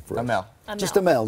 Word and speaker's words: Amell: Just Amell, not Amell. You don't go French, you don't go whatever. Robbie Amell, Robbie Amell, and May Whitman.